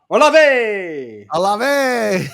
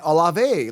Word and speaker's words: Olave: Let's just say if we were bullfighters right now, I would be going, Olave!